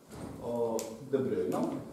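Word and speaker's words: de Bruijn: А математичне формальне визначення було надане десь у 1970-х роках Дебрюйном. От тут питання, як його писати українською, тому що він голландець, і він... Здається, якось так. Можу зараз помилятись. Але читається Дебрюйн.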